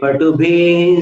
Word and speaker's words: पटुभिः: अब इसमें क्या हो गया, तो अपन ने सुरलोकनाथे से मिलाने की कोशिश की तो विसर्ग जो है उसका उच्चारण दूषित हो गया। दुद्भूत बुद्धि पटुभिः, यहां आवाज को विसर्जित करें तब वो विसर्ग कहलाता है।